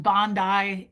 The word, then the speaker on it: Bondi: Oh, pronounced Bondi.